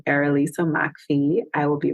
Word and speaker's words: Errolisa McPhee: um so if you look up my name erisa Macky I will be right there that's a peculiar name so I'll spell it it's spelled e r r o l